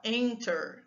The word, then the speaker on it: enter: Enter, entering, também não dobra nada, ó. Enter, a sílaba tônica é a primeira, tá bom?